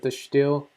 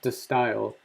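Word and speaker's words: De Stijl: the steel it looks the word looks like you would pronounce it the steel but I think it's pronounced the style well these paintings with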